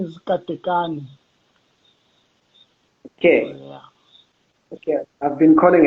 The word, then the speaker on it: Katekani: to the people okay uh my name is cathy khan okay okay i've been calling it right